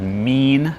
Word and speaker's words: Mien: They're called Mean, which is spelled M I E N.